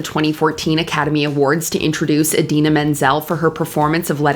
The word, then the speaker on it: Idina Menzel: John Travolta mispronounces Idina Menzel. Please welcome the wickedly talented one and only Adele Dazeem.